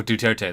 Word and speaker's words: Duterte: Oh, Duterte, that's how you pronounce it, okay.